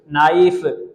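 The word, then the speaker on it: knee: नहीं होता, नाइफ, नाइफ, नी, घुटना जिसको आप कहते हैं नी, खे डबल ई, खे साइलेंट ना, किनी नहीं होता, किनी नहीं, नी, यहाँ पर के क्या, यहाँ पर भी के साइलेंट, यहाँ पर भी के साइलेंट, नी।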